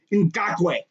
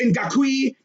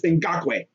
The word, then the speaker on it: Ngakoue: his last name because i've heard some people mispronounce his last name it's in gaque not in gakui okay okay now of course this first name